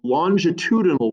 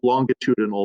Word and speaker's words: longitudinal: So the other type of wave is a longitudinal wave. And in the video, he's got a British accent, so he pronounced it longitudinal. But generally in America, we pronounce it longitudinal, but that's all right.